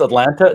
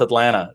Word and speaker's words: Atlanta: in atlanta so um yeah people think it's atlanta no it's atlanta dublin yeah that's right it's it's all those